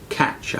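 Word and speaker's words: Kac: It's by a Jewish Christian by the name of Arthur Katch, I believe it's pronounced K-A-C.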